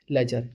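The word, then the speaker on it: ledger: That is called लेजर एल ई डी जी ई आर ये D silent होता है बट पढ़ेंगे इसे लेजर क्लियर है ये चीजें हैं।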